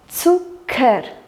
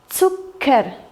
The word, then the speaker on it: Zucker: Цукер. ЦК читается как удвоенное К. Цукер.